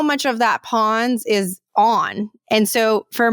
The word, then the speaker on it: pons: us a direct percentage of how much that pwns it's spelled p o NS is actually developed in your brain and that means how much of that pwns is on and so for most people so